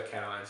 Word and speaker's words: cation: negative ions and cations now some people say occasions cations I prefer cations because it's that way you're pronouncing the ion part so cations we've got